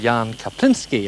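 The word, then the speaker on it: Jaan Kaplinski: needed whatsoever i have now a gentleman called jan kapinski i've got that right jan haven't i i have pronounced it right have i yes yes certainly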